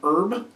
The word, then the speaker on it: herb: And yes, I know people say it's supposed to be pronounced erb, but there's an h there and I only drop me aitches when I'm speaking sloppily or lazily.